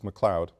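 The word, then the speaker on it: McLeod: bathon and the spelling is correct and the pronunciation is correct it's McLoud mayor McLoud bethon the sole female in the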